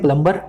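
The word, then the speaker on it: plumber: यह अच्छा बोर्ड है आप इसको बोलते हैं प्लंबर मैं जानता हूं घर में जो पानी की पाइप की मरम्मत करें नंबर अब जैसा लिखा है अब बोल ही रहे हैं आपके गलती भी नहीं है पर आज मैं आपको बता देता हूं खुद को कैसे सही तरीके से वाश करना है इसमें से भी को निकाल दें हुआ था इस बोर्ड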